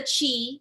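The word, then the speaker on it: qi: what they call the chi it's spelled q i but it said chi and it also can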